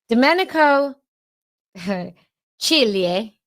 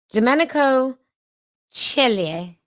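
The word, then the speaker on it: Domenico Di Ceglie: So in fact, my stylish assistant messaged me to tell me how to pronounce it. Domenico Chile. Okay. Domenico Chile.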